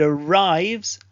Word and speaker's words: arrives: Leaves and arrives both end with a soft Z sound. So leaves, arrives.